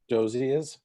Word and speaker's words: Dozois: And I apologize to the editor if I goof up this pronunciation of his last name, Gardner Dozier. Is that, did I do that right? I think it's Dozois.